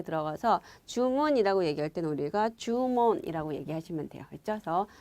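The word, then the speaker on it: 注文: 그럴 문자인데 그대로 여러분 음독 들어가서 몬 이렇게 들어가서 주문이라고 얘기할 때는 우리가 주문이라고 얘기하시면 돼요. 그쵸? 그래서 주문에서 장음 들어가서 요거 계속 나왔던 단어인데 장음인 거 주의하시고요.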